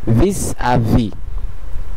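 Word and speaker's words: vis-à-vis: Vowel আছে সেহেতু এর আগের শব্দের শেষের কনসোনেন্ট এসটি এটির সঙ্গে সংযুক্ত হয়ে এটির উচ্চারণ হবে vis à vis। আরেকটা জিনিস নিশ্চয়ই আপনারা খেয়াল করলেন, শেষের ভিতে এই এসটা এস কনসোনেন্ট অথবা শেষের কনসোনেন্টটি সাইলেন্ট আছে, যেহেতু এরপরে আর কোনো ভাওয়েল অথবা আশ এরকম কোনো কিছুই নেই।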